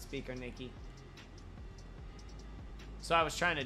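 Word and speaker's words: Biķernieki: me to pronounce it he said that Americans pronounce it like biker Nicki but that's not how it's pronounced it's pronounced speaker Nikki so I was trying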